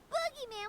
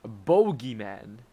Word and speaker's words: boogeyman: Paimon was so sure that the warehouse boogeyman was about to jump out at us. No, that's pronounced bogeyman. Not if there's a double O.